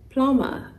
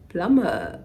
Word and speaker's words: plumber: ending the word here it's not ending the p-l-u-m-b-e-r but it is silent so don't say please call the plumber let him come and fix this pipe plumber how does it even